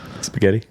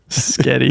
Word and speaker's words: spaghetti: how do you say do you say spaghetti properly spaghetti okay yeah you do I don't say skety Sketti here Sky oh man all